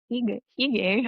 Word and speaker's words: hygge: magical art of hygge, I don't know how to pronounce it. I I think think it's it's icky. I thought it was hygge. Like I thought it was like I weigh in on this if you're I'm pretty sure it's Higgy, but Hooga sounds so much I more think fascinating to I me. think I Googled it once and it said hygge, so I'm gonna say hygge, Great.